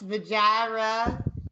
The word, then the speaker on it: Vajira: Please put your hands together for Ira Claiborne. Hey everybody, that's Vajira. Vajira. Vajira. Clarify. Yep, you mispronounced that.